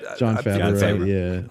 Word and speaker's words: Jon Favreau: Jon Favreau Yeah, that's how you pronounce it.